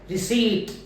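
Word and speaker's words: receipt: इसे बोले जब हम रिसी रिसी प साइलेंट होगा प नहीं बोला जाएगा इसी तरह से राजबी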